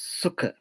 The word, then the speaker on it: sukha: For this happiness or joy, the Buddhist word is sukha. It is very easy word to pronounce. Sukha. S-U-K-K. Sukha.